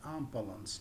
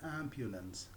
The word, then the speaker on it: ambulance: that most people are it is very common that most people pronounce it as unbalanced no it is ambulance ambulance disaster disaster medic